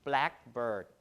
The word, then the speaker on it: blackbird: For modern English compound, the primary stress will be on the first syllable, right? Blackbird, like that, which means the type of bird, right? Or White House, the place where the president of the US lives. So the stress is on the first syllable, and the secondary stress is on the second syllable, right?